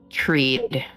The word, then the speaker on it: Trid: The next city to the west of that would be well, up on the near the mountain would be Treed, which is spelled Trid, and that would be the 3 cities in that line.